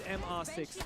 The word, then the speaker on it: MR6: He told me it is MR6 Outlaw. That is the correct way to pronounce it. So it's not Mr. It's not Mister at all. It's M R6. They say it in Portuguese. They spell out.